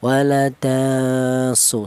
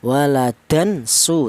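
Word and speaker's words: ولداً سبحانه: Jadi apabila ada tanwin berjumpa dengan huruf sin maka dibaca ikhfa atau cara bacanya tanwin ini disamarkan ya. Waladasu seperti itu. Tidak boleh tanwin ini dibaca izhar. Apa artinya izhar? Idhar itu artinya jelas. Tidak boleh seperti ini ya. Waladan suu tidak boleh ya.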